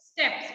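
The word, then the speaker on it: steppes: Yes, that is steps. उसको pronounce कैसे करना है? Steps.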